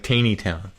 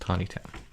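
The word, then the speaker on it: Taneytown: in mckinney's pharmacy in tawny town that's a place in maryland looks like teeny town but it's pronounced tawny town so uh i heard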